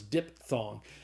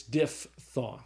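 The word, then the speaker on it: diphthong: I always thought it was dip thong, but it's not. It's diff thong.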